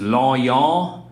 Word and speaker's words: Lonion: My last name is Lonion. It literally rhymes with ha-ha.